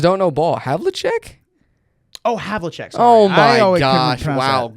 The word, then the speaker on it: Havlicek: I don't even know who Havlic is. Really? Maybe I just don't know ball. Havlicek? Oh, Havlicek.